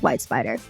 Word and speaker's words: WhyteSpyder: He'll tell us the founding story, and we'll also learn why the company is called WhyteSpyder. And that is white and spider spelled with a Y instead of an I.